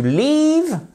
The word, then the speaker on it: leave: Mais vous avez aussi to leave, prononciation exactement comme dans beach, d'un I long. Le EA est prononcé par un I long, ok?